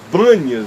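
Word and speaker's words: Banias: Bânias ganha seu nome, porque os árabes não conseguem pronunciar o P. Por isso é que se chama de Bânias e não de Pan. Seria de Pânias, de onde vêm essas águas. Mas por causa da presença árabe e da dificuldade da pronúncia do P, acabou ficando Bânias para todos nós.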